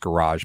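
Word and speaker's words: Gouraige: Well, and that's why, like, undrafted free agent Noah Henderson and undrafted free agent Richard Garage, and that's pronounced Garage, by the way.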